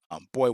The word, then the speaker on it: Boi: They didn't know if it was boy. They didn't know what it meant. tell you how to say it. No, it's BOI, just like Big Boy from Outkast, boy, then the number one, then the.